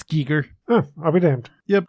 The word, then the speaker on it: Giger: I believe it's Geiger. I think it is too, but I could be wrong. I could be wrong. I mean, I'm not trying to be a know-it-all on the pronunciation of anyone's name, as our listeners well know at this point. I've butchered many a name. No, it's Giger.